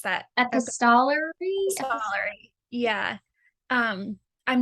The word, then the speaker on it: epistolary: how do you pronounce that? Epistolary? Epistolary.